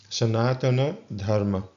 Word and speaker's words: Sanatana Dharma: So for example on this screen we would pronounce these words as Sanatana Dharma.